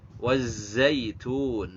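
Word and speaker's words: وَالزَّيْتُونِ: Wattini wazzaitun. Nah, wazzaitun itu ada zai. Kalau zai itu dibacanya dengan desis ya. Wazzaitun karena dia punya karakter yang namanya sofir. Wazzaitun.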